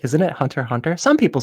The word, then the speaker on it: Hunter x Hunter: Can I just say how happy I am you pronounced the X?